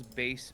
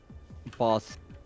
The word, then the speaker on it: Bass: of the entire game Mega Man gets a character's name wrong oh wonderful he calls base bass boss boss it's great I love